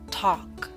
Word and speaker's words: talk: yawn boss taught gone talk note the L is silent in talk now I wish to